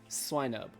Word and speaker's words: Swinub: It is, in fact, according to this, Swinub. I don't know if you can see the pronunciation right there. It's right. Can you point to it with your finger? It's right. How to say it? Right there. So. Swinub. Officially from the good people at